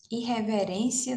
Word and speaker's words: irreverência: Irreverência não é proparoxítona, não. Ó, irreverência. A sílaba tônica é o REM, né? Que é a penúltima.